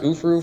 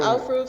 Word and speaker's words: aufruf: It's pronounced ufruf for the. Some people whatever. say aufruf. Some people say ufruf.